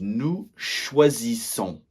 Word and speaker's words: choisissons: So, we choose nous choisissons. Nous choisissons. Très bien. So, that last s is silent. Okay, just like with the -er verbs.